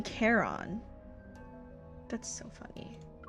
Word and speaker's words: Charon: Because, like, I've never seen that word pronounced Caron. It's always for me been Charon.